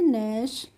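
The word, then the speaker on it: gnash: इसको हम क्या पढ़ेंगे इसमें हम जी का प्रोनाउंस नहीं पढ़ेंगे करेंगे तो एन ए एस एच को हम पढ़ेंगे नेश और नेश की हिंदी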